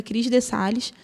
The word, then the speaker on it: Cris de Sales: Eu estou lá no Instagram, minha principal rede social, é terapeuta Cris de Sales, o D é mudo, terapeuta Cris de Sales.